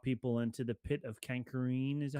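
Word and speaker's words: Carkoon: and then drop people into the pit of Kankareen. Is that how you say it? Carcoon.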